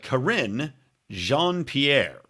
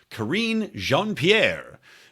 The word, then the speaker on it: Karine Jean-Pierre: brand new gal a nice shiny pony named corinne jean-pierre i'm sure i'm saying that correctly because you know i never mispronounced anything on the show karine jean-pierre who is the first openly black openly gay